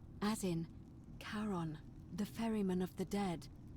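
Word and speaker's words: Charon: It's just as you described it, only your pronunciation is a little off. The name you heard wasn't Karen. It was C H A R O N. As in Karon, the fairerryyman of the dead.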